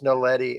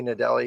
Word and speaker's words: Naledi: It's Nadali, or it's Naledi actually. Okay, have you seen this? I always say Nadali because I say it wrong.